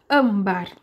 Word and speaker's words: âmbar: colares essas coisas enfim ambar tá bom levou assento e é a penúltima sílaba mais forte então nós vamos chamar